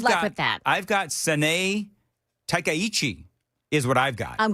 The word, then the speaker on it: Sanae Takaichi: And by the way, Joan, I'm gonna ask you, what is your official pronunciation for the Japanese Prime Minister? Haha. Good luck with that. I've got Sanae Takaichi is what I've got.